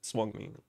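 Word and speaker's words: Suanni: Swanee, that's what it's called. It is a symbolic and auspicious animal. Well, that's how you say it, Swanee.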